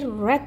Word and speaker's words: read: saya baru-baru ini membaca jadi red ini adalah verb ketiga ya guys Nah karena bacanya beda ya Kenapa kok dia